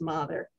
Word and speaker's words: Mather: many times in essex it's not mather it's mother so there are different